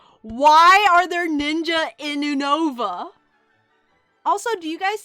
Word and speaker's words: Unova: Unova. Unova. U from United States. You know, and Nova from Northern Virginia.